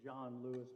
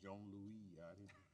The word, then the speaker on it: Johnlouis: how does he pronounce it john lewis he pronounces it john lewis but other pronunciation is correct well i figured since we were in new orleans it was jean louis i generally refer to him as john lewis